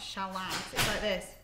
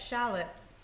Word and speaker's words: shallots: this shallots all requests no no it's not shallow yeah it's shallots just proof there's another